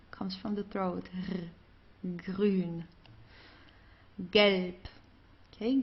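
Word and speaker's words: gelb: Galp. Okay. Galp. So here the B at the end, it's pronounced more like a P.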